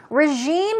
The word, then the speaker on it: regime: It's R-E-G-I-M-E, but it's not regime, it's regime. It's j sound.